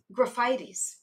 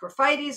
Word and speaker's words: Graphites: For example, graphites. That looks like graphites. We pronounce it graphites, or at least I do.